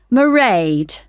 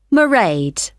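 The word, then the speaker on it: Mairead: you'll see my assistant merade sorry how do you spell that it's m a i r e a d meride okay got that it's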